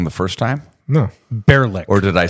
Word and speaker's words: Baerlic: imagine if you took the word Gaelic. It's spelled like that, but it's bear or beer.